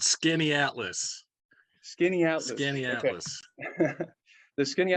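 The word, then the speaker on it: Skaneateles: little help it's it it's not like it's spelled skinny atlas skinny out scanias the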